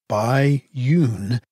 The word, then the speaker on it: Bai Yun: A young panda makes her own discoveries, while her mama, Bai Yun, pronounced Bai Yun, feasts on bamboo.